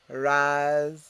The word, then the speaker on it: raspberry: last but not least word raspberry um repeat razberry what is a raspberry a raspberry is a